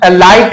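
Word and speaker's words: light: रखिएगा कि अंतिम में तो ये देख लीजिए लाइट है लाइट में जी एचटी तीनों लेटर्स एक साथ आए हैं और साथ के साथ साथ देख लीजिए कि जो है ये साइलेंट हो गए हैं हमारा साइलेंट होगा तीन नहीं होगा क्योंकि सिर्फ जी होगा और एच होगा ये दोनों वर्ड हमारा साइलेंट हो गया तो हम यहां लाड नहीं पढ़ेंगे लाइट नहीं पढ़ेंगे बल्कि लाइट पढ़ेंगे लाइट पढ़ेंगे हमारा सिर्फ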